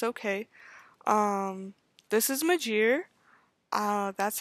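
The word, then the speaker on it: Magiere: the series like it's okay um this is majir uh that's how I pronounce her name majir it's spelled m-a-g-i-e-r-e um she is half human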